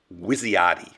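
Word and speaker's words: WYSIATI: of the cognitive bias that Daniel Conan called wisti that's an acronym and it's spelled w y s i a a TI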